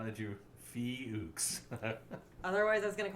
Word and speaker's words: Fuchs: say his name because i keep wanting to mispronounce it see how did you fee hooks otherwise i was going to call him [